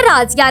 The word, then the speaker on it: Razia: जी तो नेक्स्ट नाम है राजिया। राजिया नाम लड़कियों के लिए रखा जाता है। इसके इंग्लिश स्पेलिंग्स हैं RAZIA।